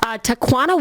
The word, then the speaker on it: Tawana: shooting of her neighbor Tawana Washington faces charges in Florida two quanta yes rhymes with marijuana it does doesn't say